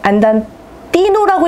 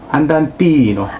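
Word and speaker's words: 안단티노: 그럼 제가 하나를 배웠으니까 안단테 뒤에 있는 안단 티노라고 읽어야 되는 게 맞을까요? 티노라고 읽는 게 맞을까요? 지난 시간에 말씀드렸지만 정확한 발음으로 안단 티노.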